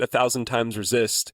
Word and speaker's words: 1000xResist: And I think that 1000 times resist is in theme with what the story is telling us to a certain extent, right?